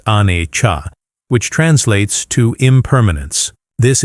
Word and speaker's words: Anicca: The Pali word for it is Anicca, pronounced Anicca, which translates to impermanence.